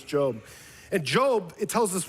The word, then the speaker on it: Job: The book of Job, spelled like Job. His name was Job.